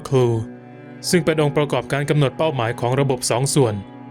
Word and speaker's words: CLU: to make the rocket accurate The gunner carries a reusable command launch unit (CLU, pronounced "clue"), which is the targeting component of the two-part system.